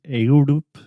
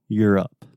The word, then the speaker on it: Europe: I hear a lot of Europe, a lot of Europe, but we just say you're. Like you're going to the mall. Europe.